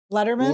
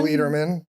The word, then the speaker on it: Lederman: Letterman? Lederman. Lederman would have an A. Lederman would have an A or an I.